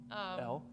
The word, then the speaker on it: Elle: I say Elle. Elle?